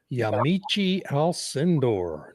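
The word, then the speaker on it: Yamiche Alcindor: But I also wanted to play his chat with how do you pronounce her name? Also, Yamichi Alindor.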